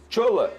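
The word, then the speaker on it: Shola: nigeriano ele se a o nome dele é assim que se escreve sh o l a aí eu pronuncio dessa maneira é um atacante nigeriano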